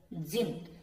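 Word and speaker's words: gin: even the clever जिन अब ये शब्द देखिए आप जिन इसमें डी साइलेंट है इसको हम बोलेंगे जिन जिन होते हैं ना अलादीन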